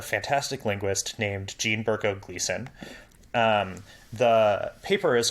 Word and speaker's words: Gleason: paper by a fantastic linguist named Jean Berko Gleason.